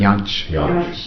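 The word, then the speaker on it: Jantsch: Another person that I wanted to ask you about, who's, well, Janisch, is that the way you pronounce it? Janisch, yeah.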